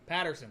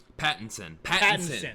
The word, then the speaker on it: Pattinson: new who is it robert uh robert patterson patterson that's how you say his name mm-hmm no it's robert patton pattinson patton clearly we know nothing about batman um